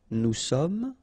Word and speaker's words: nous sommes: Nous sommes, final S not pronounced, vous êtes, little liaison